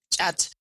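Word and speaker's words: khat: Cat is in English, they pronounce it, chat.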